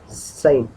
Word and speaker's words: Seine: अब इसकी स्पेलिंग है SEINE, ये देखो ये रही SEINE, SEINE, साइन। अब इसकी प्रोनाउंसिएशन साइन ही बोलते हैं इसको, साइन रिवर, ठीक है, जो कि फ्रांस में है।